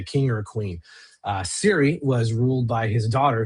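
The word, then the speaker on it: Cyre: Uh, and in case you're listening and you think it's sire or Syrian or Sarani or whatever, I use Keith Baker's pronunciation. It is in fact called Siri.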